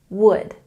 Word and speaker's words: would: We don't say the L sound in this word. It's, what is it? Would, would.